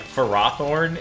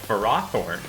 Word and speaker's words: Ferrothorn: And sometimes the official Pokemon pronunciations just feel wrong. Yeah. Like Ferrothorn instead of Ferrothorn.